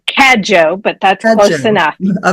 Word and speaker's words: Cadieux: Did I pronounce that right? It's Cadieux, but that's close enough.